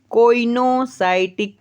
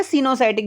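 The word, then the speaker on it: coenocytic: अगर ऐसे देखोगे तो कोइनोसाइटिक भी होता है, लेकिन सिनोसाइटिक अगर देखेंगे तो इसमें ओ क्या हो जाता है, छूट जाता है, साइलेंट हो जाता है, ठीक है। तो इसे सिनोसाइटिक बोलो या फिर आप बोल सकते हो कोइनोसाइटिक, आपको याद रखना है।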